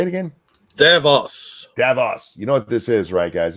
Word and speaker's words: Davos: do you say it it's not DeVos how do you say it is it Davos Davos Davos Davos is